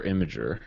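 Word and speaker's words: Imgur: at some point but is it injure or imager okay imager actually I'm always said to imager because there's no valid between that but I mean if you guys want to say it wrong that's cool I said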